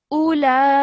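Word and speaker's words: أولئك: Okay, and this is a madul kabir. So that means that's the longer type of mud. So you have to elongate for about 4 to 6 seconds. So ulaika.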